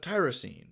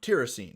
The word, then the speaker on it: tyrosine: Moving on, we have tyrosine, or tyrosine, depending on your pronunciation, symbol Y or TYR, which has an